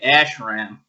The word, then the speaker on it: ashram: I would say ashram. How would I correctly pronounce it?